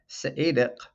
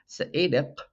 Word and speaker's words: Seediq: Saedic ku nak ballet kayaku. Saedic ku nak ballet kayaku. When I pronounce it fast, I pretty much inevitably translate the Q's into K sounds.